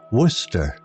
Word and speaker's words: Worcester: The villagers found it peculiar how Sir Worcester's name was pronounced Worcester, a mystery in itself.